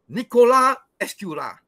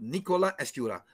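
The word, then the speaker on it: Nicolas Escurat: no so this is Nicola escura the first word s is silent the second word t is silent so Nicola Asura so he was there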